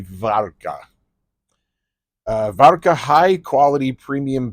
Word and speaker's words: Warka: This is called well the English pronunciation would be wara but uh but the Polish pronunciation would be var uh var high quality